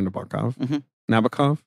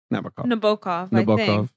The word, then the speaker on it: Nabokov: novels Vladimir Nabokov navikov I'm pretty sure I was corrected by someone who's who's read The Sweep of them so Navica um yeah I don't know it's that middle syllable that gets the punch but you can do whatever you want with it you know it was